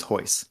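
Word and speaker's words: Royce: it's funny right cuz in Brazil they say their RS as H's so like ho is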